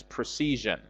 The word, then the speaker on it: precision: imprecision precision in precision please note that the addition of a prefix to precision doesn't make any change in uh the stress pattern of the word precision the stresses on the second syllable season c and it is the same in in precision precision and precision so uh precision means